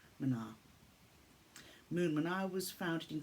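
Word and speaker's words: mná: The word Mna means woman in Gaelic, the beautiful poetic language of this island, and pronounced Mna.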